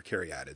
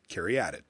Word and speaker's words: caryatid: I looked it up online because I got to be in the booth and I want to make sure I'm saying things right. And I did the little thing where you can play the sound, and it said Caryatid. And I'm like, okay, well, that must be how you say it. So when I started commentating, that's how I said it.